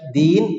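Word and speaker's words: دين: Misalnya yang mirip-mirip saja dal, ya dan nun itu kalau dibaca din menjadi apa? agama. Tetapi kalau dalnya di fathah bacanya apa? Dain.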